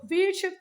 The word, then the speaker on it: वीरशैव: जो वीरशैव थे उन लोगों ने बच्चा वुमेन के अगेंस्ट में भी डिस्क्रिमिनेशन नहीं किया। ये बच्चे वीरा शिवा है, वीरा शिवा, वीरा शिवा, वीरा शिवा ऐसे प्रोनाउंसिएशन करना है इसका, वीरा शिवा, ठीक है।